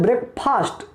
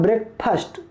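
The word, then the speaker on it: breakfast: देखिए ध्यान से, बहुत से बच्चे अक्सर बोलते हैं ब्रेकफास्ट, ठीक ना, फा पर पहिया आकार है फास्ट, लेकिन इसका प्रोनाउंसिएशन गलत है। सही प्रोनाउंसिएशन मतलब सही उच्चारण होता है ब्रेकफास्ट, फा पर पहिया नहीं पड़ेगा, सिर्फ फा ना कि फा।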